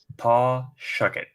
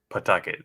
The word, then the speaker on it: Pawtucket: out as it goes and scuba pete says paw shuck it so for those that only hear it on documentaries from not natives it's pronounced pawtucket like p a posh feet tuck it